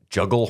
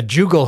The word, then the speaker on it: jugal: The Styracosaur actually has a juggle horn on its cheeks. Yeah, jugal horn. Jugal, yeah, there you go. yeah. I knew I was going to pronounce something wrong.